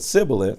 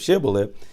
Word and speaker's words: Shibboleth: But if he couldn't pronounce the H and said Sibboleth instead of Shibboleth, he was dragged away and killed.